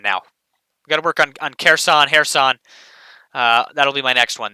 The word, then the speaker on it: Kherson: The K is silent. Kherson. Yeah, so I got that right with Kharkiv. I got to work on Kherson now. Got to work on Kherson.